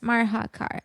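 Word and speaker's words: Marhacar: Marakar.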